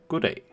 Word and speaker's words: goddag: The other person responds by saying goddag. And the first D is silent, and the more speak